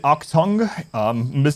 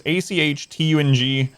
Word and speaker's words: Achtung: Octung. I always mispronounce it. My apologies, but it's ACHTUNG. It's a German word, I believe.